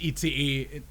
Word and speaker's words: ICE: But it's pronounced ICE since, you know, it's just a frickin' 3 letters. German pronunciation of the letters.